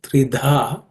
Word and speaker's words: Tridha: In the next word, Tridha, the second letter Dha is an aspirated consonant.